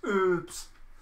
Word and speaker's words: herbs: You don't pronounce the H in herbs. No, that's herbs. Some herbs. In Britain, we do. We don't drop our H's in Britain.